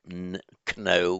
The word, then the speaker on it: know: So our English know, because we've lost the pronunciation of the K, though we still write it.